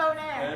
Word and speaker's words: Bonheur: that Monet? No, No, no. it's Bonaire. It is. Bonaire.